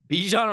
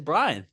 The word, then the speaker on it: Bijan: I go, you mean Bijan Robinson? You go, I think it's Brian. And then your cocky ass gets up there, starts typing away, and then you go, yep, pronounced Brian Robinson.